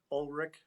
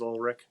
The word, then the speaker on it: Ulrich: so um full like full actual name is pronounced ulrich or ulrich and a couple references i used